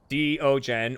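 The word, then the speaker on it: Deogen: It's Dutch. It's actually two words, Diogen, or the eyes. So the DE is duh. Duh with a really short vowel. You just let that drop off immediately. O, like, oh my god. Okay. Gen is pronounced like gun with a very short U and a guttural G.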